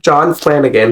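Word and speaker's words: John Flanagan: is the Rangers Apprentice by what's his name joh Flanigan is how you say it um and this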